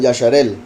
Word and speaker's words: Israel: Ajá, sí, por eso es que hay personas que lo pronuncian Yasharel, en vez de decir Israel, dicen Yasharel, que es Yashar, el justo o el recto del poderoso.